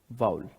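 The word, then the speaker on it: vowel: First category वाउल, इसको लोग वॉवेल pronounce करते हैं। वॉवेल नहीं, दैट इज वाउल।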